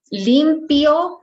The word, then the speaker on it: limpio: Limpio, again, we have I-O, and you have to pronounce both. yo, limpio. And here in tranquila, remember that QUI always in Spanish works as key, okay?